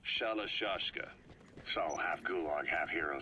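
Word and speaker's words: Shalashaska: Someone must have known about that, because somewhere along the line, Shashka got stuck on the end of Shirashka. The guerrillas were using the name amongst themselves. By the time I got to hearing about it, pronunciation had wound up as Shalashashka.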